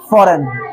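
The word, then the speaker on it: foreign: sign F ओ आर ई आई जी एन फॉरेन क्या आता है फॉरेन ये समझ गए क्योंकि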